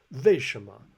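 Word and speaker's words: 为什么: He almost pronounces it like a V. 为什么我不知道我为什么还没有学这个单词.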